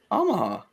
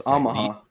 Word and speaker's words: Omaha: wrong say it again Omaha is that how they say it in Alabama Chris say Omaha Omaha it's ahaha well okay you're saying you're saying ahaha it's not ahaha it's Omaha I never pronounce it